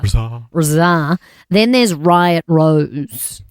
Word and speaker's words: RZA: Rizar. Oh, not RZA. RZA. What's up? And the emphasis is on the czar. Rizar.